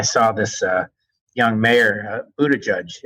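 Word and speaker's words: Buttigieg: this uh young mayor Buddha judge as you told me his name is pronounced he was the mayor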